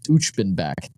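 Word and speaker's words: Uchbenbak: Also, I just looked up the pronunciation. It's Uchbenback.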